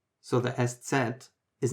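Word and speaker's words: Eszett: The name of this letter is SZ, so SZ.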